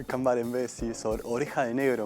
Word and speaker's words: Cambarembé: ¿Dónde es Cambarrembe? Cambarembé. Así se pronuncia. Cambarembé, sí, es oreja de negro en guaraní.